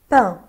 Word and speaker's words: pain: pain الA-I-N بنطقها un. pain pain.